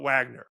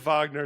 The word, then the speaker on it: Wagner: I pronounce it Vagner because, you know, from the uh the uh composer and the German roots. Uh why' you go with Wagner? Just more uh recognizable. Um there's no W in Russian.